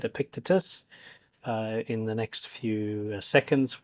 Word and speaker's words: Epictetus: Okay, so now he's going to say the word Epictetus, so that's how he pronounced it. So as soon as he said Epictetus, in the next few seconds, we'll be ready to listen for number 33.